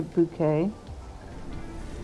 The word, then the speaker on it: Bucket: the other one uh what was the Mrs bucket one and she always call she always pronounced to bouquet her name is bucket certain set of skills